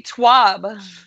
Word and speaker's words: TWAB: You never double down on the first 2 letters. No, ever. so that would be twab.